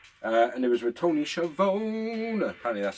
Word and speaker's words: Schiavone: And it was with Tony Schiavone.